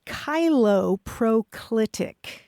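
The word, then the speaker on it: cheiloproclitic: now all right thank you the word is kylo proclitic and I will spell it okay yeah it's c h EI l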